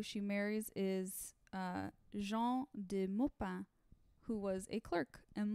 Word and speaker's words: Maupin: spelled in English uh mopin but you just wouldn't pronounce it that way in French M just in case